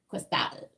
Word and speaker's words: Cristal: One of my favorite caviars is Cristal, and it's spelled like that. And you're supposed to say Cristal.